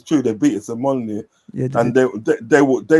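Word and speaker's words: Molineux: I can't say Molyneu. Molyneu. Yeah, Molyneu. Yeah, M. It's M. Yeah, that's right. It's true. That is facts. That is true. They beat us at Molyneu and they they were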